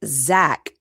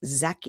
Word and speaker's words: Jacques: In Portuguese, the French name Jacques is usually pronounced like Zach, Z-H-A-K, or closer to Z-H-A-K-I, Zach or Zaki. But it looks like Jacques, but it's like Zaki.